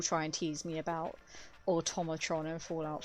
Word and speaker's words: Automatron: But I had to teach myself that it's Automatron. Even when I did the DLC, I was like, it's Automatron, Automatron, it's Automatron, Automatron, Automatron.